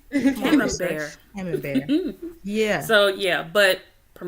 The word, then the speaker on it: Camembert: I had to do how do you pronounce Camembert? Come on, research. Look, there you go. Thank you, A. Camembert.